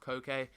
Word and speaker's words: Coke: believe Sevilla to Shala I think it's pronounced Koke however it is written exactly the same as Coke but yeah he actually